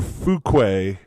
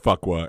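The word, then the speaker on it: Fuqua: take to the airport, I think once we correctly figured out how to say the name, it was Jeff Fuk or Fukquay Boulevard, but it's spelled Fuckwa. And I said Jeff Fuckwa.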